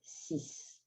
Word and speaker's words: six: a sentence for example we have sis sis by itself pronounce it sis when it has a word that starts with a vowel or the letter h afterwards we're going to have a zed liaison c and when it's followed